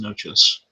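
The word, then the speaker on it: Natchios: Because it's spelled nachos, but it's always pronounced noches.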